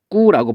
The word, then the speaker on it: 입구: 입구라고 발음이 된다고 했잖아요. 그럼 볼까요? 여기 앞 음절의 받침이 기역, 니은, 비읍. 여기 비읍이 있죠? 비읍이고, 그 다음에 뒤에 오는 소리 기역, 디귿, 비읍, 시옷, 지읒이니까 여기 기역이 왔죠. 얘가 됐죠? 그래서 얘가 뭘로 바뀌냐면 이 기역이 이렇게 쌍기역으로 바뀌어요. 된 소리로. 자, 그 다음 두 번째 얘 한번 볼까요?